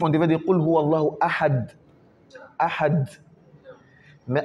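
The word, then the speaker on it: أَحَدٌ: Ahad. Ahad. Pas aha. On ne met pas shida sur les ha. Aha. Ahad.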